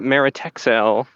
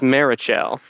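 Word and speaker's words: Meritxell: One, you tend to say Meritexel as Marichel, and I didn't correct you because I think it's fun that we mispronounce all these names all the time. I am fairly certain I am the correct one in this case.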